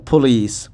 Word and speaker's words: police: no vitamin vitamin vitamin vitamin number three ಪೋಲಿ ಪಲೀಸ್ ಪೊಲೀಸ್ ಪೊಲೀಸ್ number three career career career career